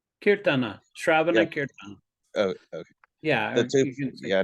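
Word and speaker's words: kīrtana: time Zach is that kirtan kirtana oh okay yeah yeah I know sometimes the a is silent yeah sometimes it's silent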